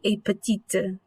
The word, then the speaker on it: petite: a little bit different adds an e at the end and it's pronounced differently so lefi petite so in a similar